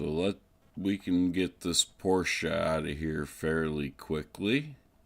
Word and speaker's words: Porsche: ongoing dispute about how this manufacturer's name is pronounced. And those of us here in the US would like to say it's just Porsche, but it is actually Porsche.